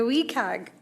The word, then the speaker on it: WCAG: uh accessibility guidelines okay the wii cag is wcag so we gotta pronounce it as well that's a name